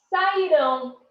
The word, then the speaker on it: sairão: Olha a diferença na hora da pronúncia. Se é no passado, saíram, leram, nadaram. Olha só, saíram, leram, nadaram. No futuro, sairão, lerão, nadarão.